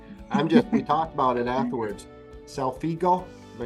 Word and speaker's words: solfeggio: Selfigo, am I saying it right? Selfugio? the solfeggio frequencies.